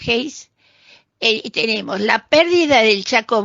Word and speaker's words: Hayes: Hayes, se escribe Hayes pero se pronuncia Hayes, tenemos la pérdida del